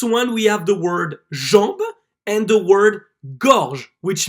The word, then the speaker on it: jambe: So here you will see that the E is almost silent and that only the letter before the E will be pronounced. For example, jambe, jambe.